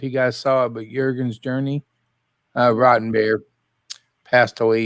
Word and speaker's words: Jurgen: i mean i was upset about it uh jurgen's journey it spell j-u-r-g-e-n but it's pronounced jurgen journey yeah he's a one of